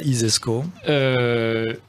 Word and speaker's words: ISESCO: i alors l'isesco si vous considérez que ça isesco comme ça se prononce ainsi donc si vous imaginez le celi